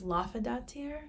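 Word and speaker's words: Laufeydottir: There's also an actual variant of Loki by the name of Sylvie, I think it's Laufeydatir, that's how you pronounce it, which basically means daughter of the frost giant Laufey, because Loki's full name is Loki Laufeyson, right?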